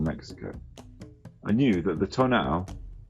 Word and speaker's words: tonal: I knew that the Tonal, pronounced Tonal, was thought to be a kind of guardian